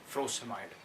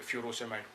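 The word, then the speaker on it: frusemide: उनमें से the loops, इसका the very interesting example is फ्रोसेमाइड, और जिसको आप लोग फ्यूरोसेमाइड पढ़ते रहते हैं, विच इज़ प्रोनाउंस, जो प्रोनाउंसिएशन के हवाले से रॉन्ग है।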